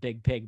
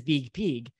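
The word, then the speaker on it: Biig Piig: peak and the reason i say it like that is b-i-i-g-p-i-i-g now i'm sure it's pronounced big pig but i like it as big pig these two out of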